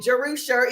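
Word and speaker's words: Jerusha: so important so I'm that's how you pronounce my name jerusa it's Hebrew it's in the Bible it's actually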